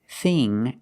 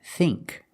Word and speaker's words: thin: Thin, thin, is a short I sound. Thin. Like this is. This is thin.